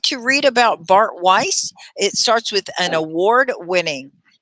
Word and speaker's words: Weiss: Weiss.